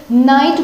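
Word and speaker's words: knight: नाइट बोलते हैं, कनाइट नहीं बोलते हैं क्योंकि के इसमें साइलेंट हो जाता है।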